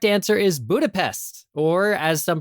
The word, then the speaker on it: Budapest: The correct answer is Budapest, or as some pronounce it, Budapest.